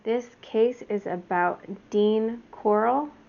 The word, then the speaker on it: Corll: case is about dean coral i think that's how you say it coral it's c-o-r-l-l and he is also